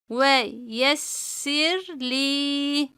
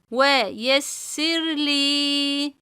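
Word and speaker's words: وَيَسِّرْ لِي: Bümülr min emrine min emrine ve yessirli. Ve yessirli. Bakın arkadaşlar ra cezimlidir. Kendinden önceki harf esreli olduğu için ra'yı ince okuruz.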